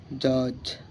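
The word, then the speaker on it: judge: ডি জি ব্যাজ জে ইউ ডি জি ই জজ এখানে যেমন গাইস জি সাইলেন্স মানে সাইলেন্স জি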